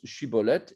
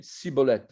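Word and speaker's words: שיבולת: On parle de l'histoire de Shiboleth, que les Giladides prononcent Shiboleth et que les Éphraïmites prononçaient Siboleth parce qu'ils avaient, comme on dit, un cheveu sur la langue, un cheveu sur la langue.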